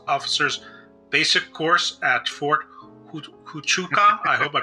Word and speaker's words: Huachuca: He also attended the Army Intelligence Officers Basic Course at Fort Huachuca. I hope I pronounced that correctly, Arizona. Huaca. Huachuca.